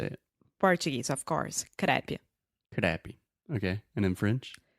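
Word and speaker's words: crêpe: So again, when in doubt, when you see French words, you probably are going to add that A sound. Crepe. Crepe. Yeah, Grape, crepe.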